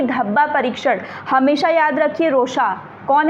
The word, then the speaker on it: Rorschach: परीक्षण, हमेशा याद रखिए रोशा। कौन है? हरमन रोशा। स्पेलिंग थोड़ी अलग है, स्पेलिंग इनकी ऐसे ही लिखी जाती है RORSCHACH, ठीक है, बट पढ़ते हैं हम रोशार्क। हरमन रोशार्क टेस्ट जो इंक